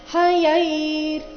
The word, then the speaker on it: ಹಯೈರ್: ಅರ್ಧ ರಕಾರ ಶ್ವೇತೈರ್ ಅಧಿಕ ಹಯೈರ್ ಹಯೈರ್ ಹ ಯೈ ಆದ ನಂತರ ಮತ್ತೆ ಅರ್ಧ ರಕಾರ ಇದೆ ಹಯೈರ್ ಅಧಿಕ ಯುಕ್ತೆ ಯುಕ್ತೆ ಅಲ್ಲಿ